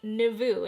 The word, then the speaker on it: Nouveau: beverly hills brand new novo palette it runs 55 so you pronounce it like navoo it's short for navoo